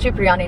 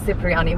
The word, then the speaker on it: Chiani: you on chiani so apparently it's chiani not ciani we said it wrong but they had a